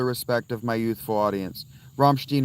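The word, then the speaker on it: Rammstein: Romstechstein or too European. That's correct. I listen mostly to Scandinavian music though, Ann. But Romstech or too too European. That's correct. That was actually the exact correct way to say it.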